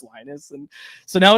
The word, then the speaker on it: Linus: Patrick was just like yeah lonus it's just lonus and so now it's